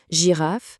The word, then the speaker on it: girafe: Si notre G se retrouve juste devant un e, un i ou un y, alors là, automatiquement, sa prononciation s'adoucit et devient j.